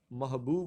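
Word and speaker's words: محبوب: लफ्ज है 46 वां तो यह हमारा महबूब होता है महबूब अब बाकी तीनों जो ऑप्शन है बी सी और डी में यह पेश से शुरू हो रहा है तो हम इसको कहते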